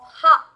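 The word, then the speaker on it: ห้า: 5 is the pronunciation of ha. Ha, ha, ha. We do that. So 5 is a pronunciation for ha.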